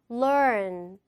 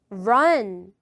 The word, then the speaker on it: learn: Learn, learn. 이걸 뭐라고 해서 틀리냐면 이렇게 말해서 틀리시죠? Run, 이거랑 learn. 이건 달라요. 그죠?